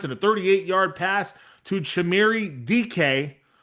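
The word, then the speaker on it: Chimere Dike: a 38-yard pass to Chimere DK. It's spelled much differently, but it's Chimere DK to get things going.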